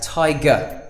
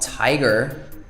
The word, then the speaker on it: tiger: say fridge translator see we don't pronounce the R there's an R at the end of all of these words but we just say it as tiger not tiger translator smaller bigger faster